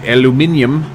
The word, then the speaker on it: aluminum: volcano and we got aluminum aluminum or aluminium as the Brits say I like that I